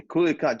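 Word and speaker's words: Culiacán: The Culiacan.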